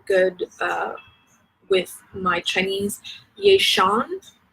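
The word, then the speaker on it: Ye Xian: And the fairy tale there is called, and again, I'm not good with my Chinese, Yeishan, Y-E space X-I-A-N, I think that's pronounced Shan, Weishan, please forgive me,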